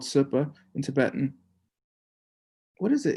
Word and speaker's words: Zopa: who lama supa is incorrectly pronounced lamazopa that's what his name means if you say zopa it means a spy or something or like an agent apparently if you say super low tone it means the perfection